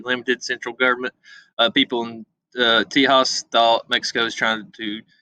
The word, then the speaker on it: Tejas: Texas, or is known as Tejas, spell it with the J, Tejas, was a Mexican state.